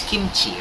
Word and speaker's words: kimchi: trying to say is There's no native Korean word that is pronounced G okay if this character